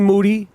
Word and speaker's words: Moody: monetti what's up G Moody yes rhymes with Duty aka the black Ed